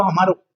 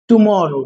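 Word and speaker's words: tomorrow: ये टुमारो नहीं है, ध्यान रखिएगा, टुमारो और हमारो, ओके, इट्स नॉट टुमारो हमारो, इट्स टुमारो। क्या है, टुमारो।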